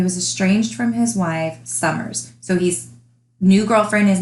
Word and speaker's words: Summers: with, her name is Summers. And I'm not saying it wrong, it's not Summer, it's Summers with an S at the end.